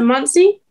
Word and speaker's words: Muncie: And then from there I go to, I think it's, you pronounce it Muncie.